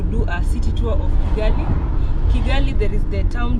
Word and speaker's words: Kigali: Kigali. I said Kigali, but it's Kigali now. Okay, that's in It's not Chi, it's Ki. Ki. No, Kigali.